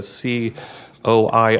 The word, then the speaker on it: coir: It's called coir. It's a C-O-I-R. Coir. And it comes from... Coir. Everyone has a different pronunciation. Coir or coir is usually what you hear.